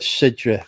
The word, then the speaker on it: Cidre: No, they call it Sidra because it's I not. was going to say it's spelled CIDRE.